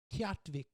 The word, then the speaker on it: Utqiagvik: And now it's called Utqiagvik or something. Like I had to literally look online how to say that. It's spelled like UQT, like whatever.